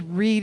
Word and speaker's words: Reed: And then I had to remind myself, no, his first name is Reed, like Reed Richards from the Fantastic Four.